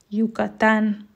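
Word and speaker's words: Yucatán: kell kiejteni hogy i minden más eset ben y betűt j hangnak ejtünk lukatan például a híres félszigetmexikóban a z betű neve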